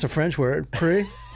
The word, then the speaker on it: Prix: But at least you learned how to pronounce a French word. pre. Yeah, cuz it's really said ma math grand pricks, right?